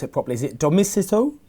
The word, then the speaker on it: Demosisto: Is it Domicito? Demosisto, yeah, you pronounce well, yeah.